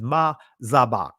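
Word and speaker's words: מזבח: The altar is ma zabak, right? I'm pronouncing this in ancient Hebrew.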